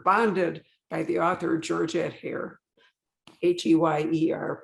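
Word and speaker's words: Heyer: that we were bonded by the author georgette hair h-e-y-e-r pronunciation and you pronounced it just like i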